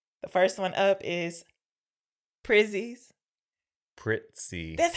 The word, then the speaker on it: Prizzi: Prizzi, like you're adding a like T. Pizza. You're adding a T. So Prizzi's honor. How do you say Pizza? Pizza. So Prizzi. Prizzi. Pizza. That Prizzi. is not the same sound. It has IZZ in another vowel.